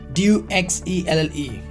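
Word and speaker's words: duxelles: D-U-X-E-L-L-E is duxelle. Is dogs, okay? Dogs cells. Duxelle.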